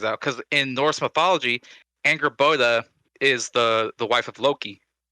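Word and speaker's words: Angrboða: So And Anger Boda, the girl at the very end of this trailer, is that how you from- pronounce that? yeah, it's Anger Boda.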